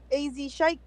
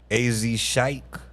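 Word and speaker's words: AZ Chike: French Mont French Montana Relle say wait a how you pronounce his name AZ Shik AZ Shik okay is he on GNX he's on Peekaboo my favorite song of the Okay.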